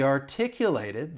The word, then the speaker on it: articulate: If we're going to use it as an adjective, the stress is still on the second syllable, but that final syllable has more of a short I sound, articulate.